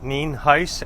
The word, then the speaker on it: Nienhuis: It's pronounced Nienhuis, and it is spelled Nienhuis.